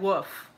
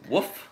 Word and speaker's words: wolf: Or like wolf. There's an L there, and then they say woof.